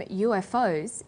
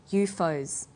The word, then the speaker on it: UFO: that in the story the term ufos is pronounced ufos we usually say ufo that's all for study